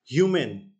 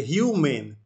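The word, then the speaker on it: humane: Last वो क्या है आज का, ह्यूमेन, ह्यूमेन, ठीक है। प्रोनाउंसिएशन होता है देखिए ह्यूमेन, ह्यूमेन, ठीक है, ह्यूमन नहीं है ये, ह्यूमेन है।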